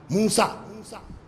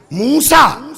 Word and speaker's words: موسیٰ: موسیٰ۔ اکثر ہم لوگ موسی کاظم کہہ لیتے ہیں، لیکن اس کا شدھ اچارن جو ہے، شدھ صحیح تلفظ کیا ہے؟ موسیٰ۔ اسی لیے آپ نے